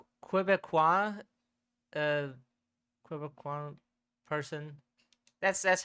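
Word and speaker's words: Québécois: We apologize to every like Quebecois, uh, Quebecois person. That's how you pronounce it, at least.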